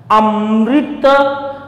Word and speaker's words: अमृत: जैसे मैं उच्चारण आपको करके दिखाता हूँ, अमृत अमृत अमृत अमृत अमृत, यहां री पर बल पड़ रहा है तो ये दीर्घ री है, लिखा तो यूं ही